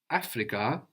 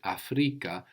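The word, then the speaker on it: Afrika: need to be careful not to carry over the accent from English so not Africa but Africa the accent on the penultimate syllable Africa Africa how would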